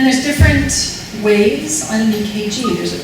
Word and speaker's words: EKG: It's supposed to be ECG. I guess an electrocardiogram started out as a German word, and it was spelled with a K. So in English, we spell it with a C, but we still say EKG.